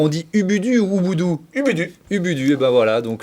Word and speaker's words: Ubudu: Ubudu. Ubudu, et ben voilà, donc j'avais la bonne prononciation, il va falloir vous y mettre.